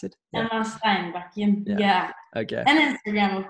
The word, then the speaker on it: Steinbakken: How do I pronounce it? Emma Steinbakken.